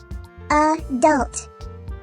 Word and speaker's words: adult: a word listen adult notice that the word adult has an accented or louder syllable at the end of the word the schah sound only occurs in the unaccented OR quieter syllable at the beginning of the word the letter A in the word adult makes thewwa sound thewwa sound doesn't always